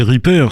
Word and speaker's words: Repair: repair repair c'est c'est repair c'est c'est un mot anglais en fait hein r PIR d'accord oui